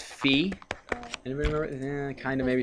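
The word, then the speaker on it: φ: here right there what is how do you pronounce this right here anybody know it's fee and remember kind of maybe sort of physics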